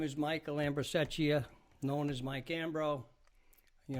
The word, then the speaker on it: Ambrosecchia: Can't pronounce the name. I'm not going to try it. My name is Michael Ambrosecchia, known as Mike Ambro.